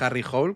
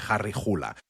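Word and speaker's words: Harry Hole: No es Harry Hle porque lo parece, porque solemos leer inglés, sino se pronuncia eh Harry Jula, aunque el nombre sí es en inglés.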